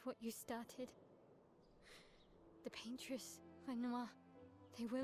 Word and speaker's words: Renoir: The paintress, Renoir, they will... Renoir.